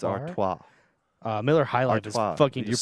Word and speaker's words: Artois: uh Stella and I was like no it's Artois uh Miller High Life you're putting an r